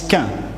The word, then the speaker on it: quin: Mais un petit chien, en Normandie, on prononce quin, un petit freluquet de quin qui jappe.